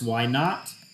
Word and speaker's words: naught: x minus x naught when you see a sub zero that is pronounced not so y sub zero is y naught x sub zero is x naught okay so this will